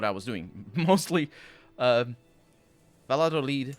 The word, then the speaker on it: Valladolid: i understood what i was doing mostly um valladolid valladolid actually pronounced like that i didn't realize that was